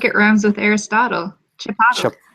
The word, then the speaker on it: Chipotle: giant lives in Canada after that you said chipot I don't I'm not sure what you're talking about it's like it RMS with Aristotle Chipotle it's you're pronouncing it wrong chiple ly